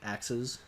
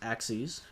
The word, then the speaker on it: axes: is axes looks like axes like a battle-axe but it's pronounced axes because it's plural for the word axis so we have two